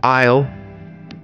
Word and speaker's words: isle: Isle. Here S is silent.